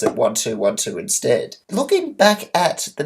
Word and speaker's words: 1212: channel, but it's pronounced 1212, similar to bits in a computer, which is the smallest form of data, which are zeros and ones. So you pronounce it 1212 instead.